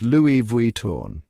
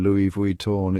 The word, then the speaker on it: Louis Vuitton: The correct pronunciation is Louis Vuitton. That's Louis like Louis, Vaui rhyming with free, and torn like the color tan, Louis Vuitton.